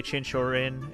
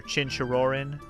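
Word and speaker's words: Chinchirorin: And you can play Chinshorin as much as you want, or Chinshirorin. Say it right.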